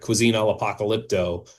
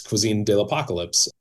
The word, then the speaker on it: Cuisine de la 'Pocalypse: had been, you know, people mispronounce it, you know. So I wanted her to be the one to call that out and everybody else be like this is so obvious. It's cuisine de apocalypse.